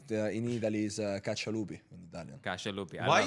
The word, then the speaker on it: Caccialupi: Also, I had to write down the pronunciation, I'm being honest. Caccialupi. Caccialupi, Do I got yes, that? Caccialupi.